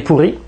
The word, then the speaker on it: puri: Avec ch mesdames et messieurs, bien la prochaine la prochaine recette nous allons faire des pourris. Ça s'écrit pu r i. On prononce toujours le u comme un o.